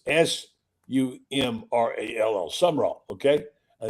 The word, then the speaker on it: Sumrall: But it's Sumrall. Summerall. Okay, and it's John Jon, not John. Okay, so it's John Summerall, not Summerall. Sumrall.